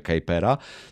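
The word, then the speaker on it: Kuiper: Kera to jest znowu a propos wymowy nazwisk bo on z pochodzenia był holendrem ale ponieważ mieszkał w Stanach więc raczej się stosuje to wymowę Kera No w każdym razie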